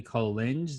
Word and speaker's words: Collinge: Hayley Collinge. Did I say it right? Collinge, yeah.